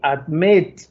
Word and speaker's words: admit: Y admit no es admit, no es admit, ¿ok? Admit. Tiene al final estresada esa sílaba, es decir, tiene el énfasis al final.